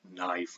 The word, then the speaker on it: knife: If we think about some other modern English words, we spell consonant clusters that we no longer pronounce, as in the word knife.